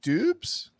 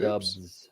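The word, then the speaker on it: Doubs: understand okay traps uh romeo is it dupes dude dubs dubs yes go get the dogs you're the pronunciation guy it's dubs right i believe so yeah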